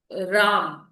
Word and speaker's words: राम: जैसे हमने लिखा राम तो रा में बड़े आ की मात्रा है और म में छोटा आ वो साइलेंट वो है उसके साथ।